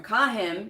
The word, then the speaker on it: CAHIM: never remember what is a cahim accredited program kahim c a h i i m stands for